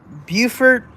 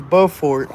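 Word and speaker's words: Beaufort: Here's how to not get be because there's Bufort and there and there's Bowfort North Carolina. There's Bowfort North Carolina and Bufort South Carolina. Both spelled the same.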